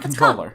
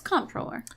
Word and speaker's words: comptroller: Yeah, it's not controller. It's comptroller.